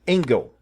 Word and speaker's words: Engel: Tem um jogo alemão que eu conheço, chama-se Engel. Uhum.